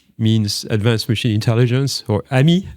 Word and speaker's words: ami: So um I prefer to use the the phrase AMI which means advanced machine intelligence or AMI. Um if you pronounce it in French that means friend in French I think it's more appropriate.